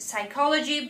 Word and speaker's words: psychology: careful of the word psychology because p is not head at all but it is written down it is head psychology but you spell it